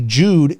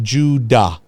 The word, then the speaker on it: Jude: yourself and realize that that e is supposed to have an a sound to it so j u d e Jude is not supposed to be pronounced Jude it's supposed to be pronounced Judah j u d Jude